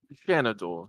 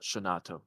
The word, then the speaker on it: Shanador: Yeah, Shanador, not Shanato. I forgot the R. You pronounced it Shanato, completely hey.